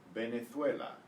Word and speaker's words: Venezuela: Now, the V is pronounced as a B in Spanish. Venezuela.